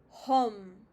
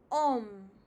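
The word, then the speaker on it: homme: So this you wouldn't call it as hom. It is pronounced as om.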